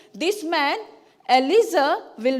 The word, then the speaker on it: Eliezer: How do you pronounce it? Eliezer. Eliezer.